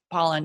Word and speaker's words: Pollan: Is it Pollan or Poland? I always want to say his name wrong, but Pollan, yeah, from the food rules.